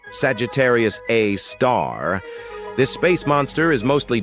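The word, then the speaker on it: Sagittarius A*: We've got Sagittarius A, which is pronounced Sagittarius A star.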